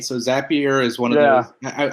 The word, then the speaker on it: Zapier: zapier is when uh cuz I hear that it is a pure xapi erks i hear pronounced here but i assume it's appier but i'm from california i say things however I want he inspires happier